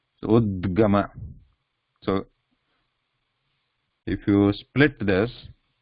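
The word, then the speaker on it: उद्गम: Because it is on the top, we only pronounce the consonant part without any vowel part. So udgama. But what comes at the bottom, it is pronounced with the vowel part. Vowel part is added. Vowel sound is added to the what is in the bottom.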